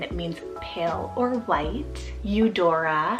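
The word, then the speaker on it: Eudora: so stunning and it means pale or white you Dora spell e-u-d-o-r-a you Dora this one means generous gift then for another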